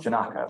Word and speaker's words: Janaco: Is your last name pronounced Jenico or Janaco? Janaco. Yeah. Okay, cool. I tell people to think of taco, although it's not the best image.